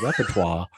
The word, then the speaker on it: repertoire: repertoire there we go phonetically it's all rep t-w-a-h it's a repertoire you gotta use it